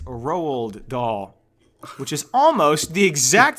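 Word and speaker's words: Roald Dahl: saying his name shut up so his name is spelled r o Al so I said roal doll like that's the way it looks which okay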